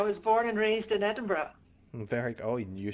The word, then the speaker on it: Edinburgh: I was born and raised in Edinburgh.